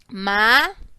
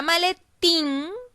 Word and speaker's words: maletín: La vamos a separar en sílabas. Ma-le-tin. En la palabra maletín, la fuerza de voz se la estoy dando a la sílaba tin. Es decir, que es la última sílaba.